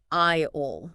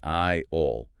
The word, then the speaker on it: aisle: English kept the S from its old French roots, but the letter is completely silent. So it's just pronounced I-ol. Exactly, I-ol.